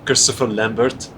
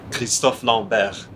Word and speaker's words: Christophe Lambert: Christopher Lambert, right? Yeah, the guy? yeah. Yeah. It's we pronounce his name Christophe Lambert.